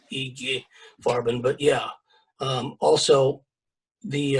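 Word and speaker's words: IG Farben: eg farben for example g farben but in german you would pronounce it eg farben but yeah um also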